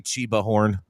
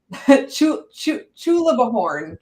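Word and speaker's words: Chulabhorn: Did you say Chibahorn? Chulabahorn.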